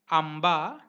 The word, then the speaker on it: आंबा: If nasal dot is followed by characters p, p, b, bh, m, then dot is pronounced as m, m, as m in English. Examples: pump, pump, umph, umph, आंबा, आंबा, आरंभ, आरंभ, संमती, संमती.